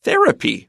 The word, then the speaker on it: therapy: And the noun for therapeutic is therapy. Watch out for the stress. Therapy stress is on the first syllable. Therapeutic, the stress is on the second to the last syllable.